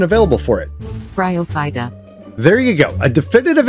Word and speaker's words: Bryophyta: group of plant life and there's already a pronunciation available for it bryophyta there you go a definitive answer wait what's this bryophyta in 30 seconds raw can be fought with